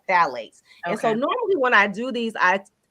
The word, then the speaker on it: phthalates: So it's a group of chemicals called phthalates, and it's spelled kind of weird. It's like PHTH. Okay. I always get it wrong. But anyway, it's phthalates. And phthalates are a group of